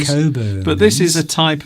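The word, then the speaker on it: Cockburn's: this is Cockburns. although it's pronounced.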